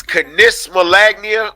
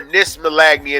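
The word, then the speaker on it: knismolagnia: I don't know if it's canismalagnia or nismalagnia, and the K is silent, but this is a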